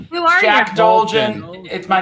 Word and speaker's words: Dolgen: It's Dolgen. Who are Jack you? Dolgen.